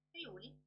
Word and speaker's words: Friuli: Friuli? Sì. Friuli Venezia Giulia. Tanti dicono Friuli, ma è un po' sbagliato perché l'accento è Friuli, con la U lunga.